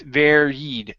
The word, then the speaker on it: varied: couple of things here give me a good V at the beginning and a long e sound at the end instead of where uh varied okay it's varied varied varied good one more time